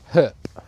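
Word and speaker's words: Höfn: We stayed in Herp. It's spelled Hen, but it was a really sweet little fishing village.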